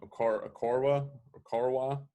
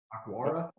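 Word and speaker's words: Okwara: Okorwa. How do you pronounce that name? Akwara. Yeah. Akwara.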